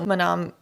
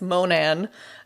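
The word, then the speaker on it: Monon: So Manam. Dude. Close, but I mispronounced that. It's Monan Highbridge.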